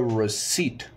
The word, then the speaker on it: receipt: type receipt not recite I said receip receip is a tricky one it has silent letters how to type receed